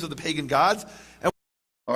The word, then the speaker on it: Gad: may say it as Gad g a d but it's not pronounced as Gad it's pronounced God okay now if you